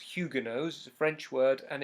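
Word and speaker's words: Huguenots: that's a annoying word to spell but it's pronounced Hugo knows French word and it's a word referring to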